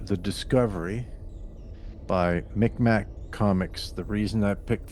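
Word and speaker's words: Mi'kmaq: I think they've changed it to closer to the uh like indigenous pronunciation, Mic Ma, or something like that. But back in the day, it was Micmac.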